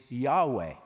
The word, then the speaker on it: Yahweh: letter letters and we the best we can come up with is YH wh is Yahweh now about the time